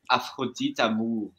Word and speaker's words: Afrodite Amour: Just so you know, it's pronounced Afrodite Amour.